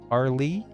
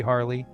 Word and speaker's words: Harle: far as Harl goes, I agree with the one um commenter who kind of lit me up about um the pronunciation of her name. I guess it should be Harley.